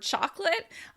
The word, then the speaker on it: chocolate: A good example is the word chocolate. We often drop syllables in that word because we say it so often.